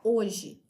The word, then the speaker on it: hoje: no final da palavra, sem que ela seja pronunciada, como por exemplo na palavra hoje, que nós escrevemos no começo dela a letra H, mas ela não tem som.